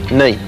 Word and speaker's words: knee: Which joint in the human leg has a silent letter in its name? Knee.